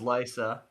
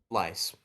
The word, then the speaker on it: Lysa: It was Lysa in I'm assuming the red keep with tears of lease lice. That is correct. You changed the pronunciation to lice, so I can't accept that.